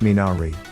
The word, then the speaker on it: Minari: eight ninari getting back to the original it's pronounced minari it's a weed that purifies the ground and